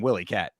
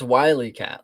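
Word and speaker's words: Wyatt: I thought they were saying Willyat. It's Wyat. Like Wy Coyote, I think.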